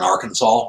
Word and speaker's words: Arkansas: I've seen websites like that, but the problem with that is Hyde is a lot of them are in Arkansas or Arkansas as it's spelled, and that there's nothing in that state for me.